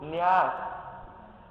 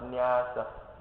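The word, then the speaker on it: nyāsa: Second one is called Nyas. What is it called? Nyas. Okay, put your hand down. N-Y-A-S-A. Last day you don't pronounce. Nyasa. Nyasa.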